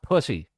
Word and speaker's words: Pusey: It's pronounced pussy.